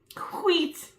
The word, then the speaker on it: wheat: Wheat. A light taupe. You got to pronounce the H. Wheat. Because the H feels left out.